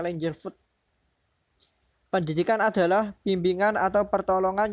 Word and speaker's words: Langeveld: Menurut tulisannya itu Langeveld, bacanya Langerfoot.